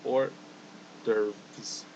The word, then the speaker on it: hors d'oeuvres: But yeah, pronunciation is hors d'oeuvres.